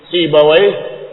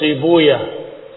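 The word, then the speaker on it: Sibawayh: Seperti Sibawa mereka menyebutnya sibuyaah karena menghindari kata wai yang katanya wai maknanya jelek.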